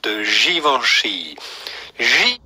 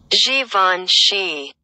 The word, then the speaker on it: Givenchy: founded in 1952 in france by designer uber givenchy givenchy javascript how does that sound guys let me